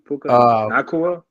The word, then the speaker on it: Nacua: Oh yeah, Puka Nacua. Nacua. That's how you say his name.